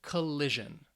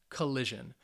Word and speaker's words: collision: with tion or sion the stress is on the second to last syllable so it's going to be on that middle syllable so let's say these